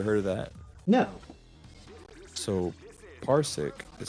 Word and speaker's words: Parsec: have you ever heard of that no so parsik is spelled p-a-r-s-e-c I think yeah um parsik is actually an app that allows users to